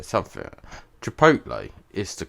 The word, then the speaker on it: Chipotle: Well, before I say something, Chipotle is the correct way to say it.